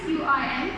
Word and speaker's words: Qin: Spelling is QIN, but Q is pronounced as Ch in Chinese language, so it's Qin dynasty.